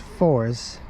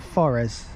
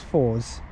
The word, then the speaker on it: Forres: um as far as I'm hello no it's pronounced fours but I know some people pronounce it forres but it's fours let's hope announce it looks very new it's